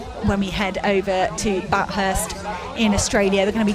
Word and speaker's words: Bathurst: so so so entertaining did you say batthurst did I that's not how you say it Bathurst oh sorry lots of